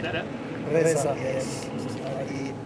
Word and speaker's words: Reza: Reza, yes. He said Reza.